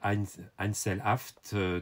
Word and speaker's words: Einzelhaft: Il s'appelle Einzelhaft. Je vous prononce à l'allemande.